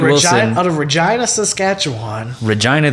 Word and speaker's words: Regina: Regina, the town that rhymes with fun.